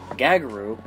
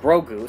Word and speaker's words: Grogu: baby yoda or as i should now call gagaroo or grogu sorry i'm still pronouncing it and uh learning how to pronounce